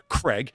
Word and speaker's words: Craig: And he goes, and yeah, for you Americans out there, Craig, it's like Veg. And no, you don't say Veg like Veg. You say it like this, and it rhymes with Craig.